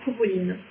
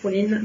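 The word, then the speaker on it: Cú Chulainn: Le coup ça va, le CH en fait il se prononce rare, on va le chercher au fond de la gorge et puis on va oublier le A en cours de route.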